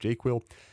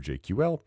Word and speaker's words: JQL: These mainly show up in JQuil, it's pronounced JQuil, or JQL, and help you sort work items.